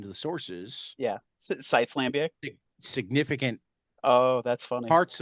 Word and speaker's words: Lambiek: Not far after their Wikipedia will be their Lambic. Interesting. So And for for that any, matter, half the time their Wikipedia, if you pay attention to the sources, yeah, Sites Lambic.